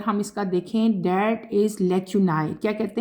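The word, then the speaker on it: lacunae: is known as लेक्यूनी एल ए सी यू एन ए ई इसको कैसे pronounce करना है लेक्यूनी ठीक है लेक्यूनी एन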